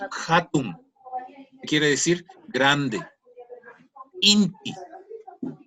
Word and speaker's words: inti: Inti, que también decimos indi. Aquí en el norte también decimos indi. Y las dos son correctas.